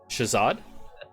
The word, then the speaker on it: Shahzad: morning Tricia's odd hmm who is his uh Shahzad yeah had that written spell it because you might be pronounced H aaz